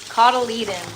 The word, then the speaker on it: cotyledon: Cot like a portable bed. Cotyledon. Oh, see?